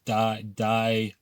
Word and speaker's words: Diocletian: It happened to the early Christian church, where an emperor called Diocletian, and an easy way to remember his name is Diocletian, Die meaning that he persecuted Christians, okay?